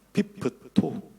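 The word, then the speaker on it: πίπτω: 그 떨어졌다라고 하는 헬라어를 분석해 보니까 헬라어 발음이 피프토입니다. 피프토.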